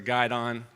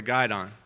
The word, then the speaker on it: guidon: most commonly asked questions is, what is a guidon? Very commonly mispronounced. Any of those who didn't serve in the military, every group has a flag bearer, and that's called the guidon.